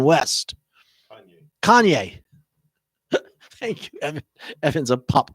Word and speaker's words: Kanye: cayenne what king gladney i say his name kaine west kanye thank you evan's a pop culture guy so